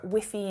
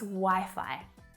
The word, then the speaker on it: Wi-Fi: you know i often see non-native english speakers asking for whiffy in hotel receptions or at information desks and the response or the reaction that they get is kind of confused wiffy what is that it's wi-fi this is my favorite